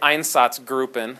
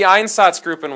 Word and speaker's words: Einsatzgruppen: like you're an idiot I say einsatzgruppen because I can't make the make the gr sound like yeah I can't